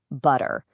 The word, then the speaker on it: butter: It's what happens when a T gets kind of squished between two vowel sounds. Instead of making a sharp, hard T sound, our tongues get a little lazy. They just quickly flap against the roof of the mouth. And what you end up with is a sound that's way closer to a soft D.